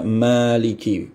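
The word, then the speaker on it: مالك: Ruwais dan Rauh itu membaca Maliki, panjang ma-nya ya.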